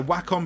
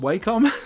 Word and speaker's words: Wacom: exactly oh wow so whack on products you can't only by Wacom I can't only by welcome it might be pronounced Wacom so it's spelled w eh c om tap that into Amazon